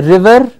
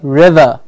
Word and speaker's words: river: say Panther its Panther we don't say River we say River it becomes a vowel sound so please takes onto the vowel sound that's preceding it and the rear becomes nearly silent at the final position Panther Oh exactly yes